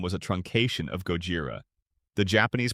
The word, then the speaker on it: Gojira: Their first product was Jira, a bug tracking tool whose name was a truncation of Gojira, the Japanese pronunciation of Godzilla, a nod to the competitor tool Bugzilla.